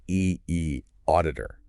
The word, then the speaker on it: eAuditor: Spelled E auditor. And we say E auditor.